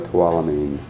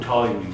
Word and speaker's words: toluene: You had a tap testing issue with Mark, and you also had a no toilamine. Toilamine, I'm saying it wrong. Toluene, right.